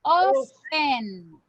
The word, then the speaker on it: often: de often, all right, porque often no lleva la T, ok, pero escucho que siempre me la pronuncian, así que sería así, all right, just pay attention to this. You don't need, no necesitamos decir la T, ok, eso no se pronuncia.